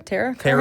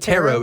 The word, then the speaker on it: tarot: have had had territory tear tear Oh I think Tarot is the pronunciation oh yeah I had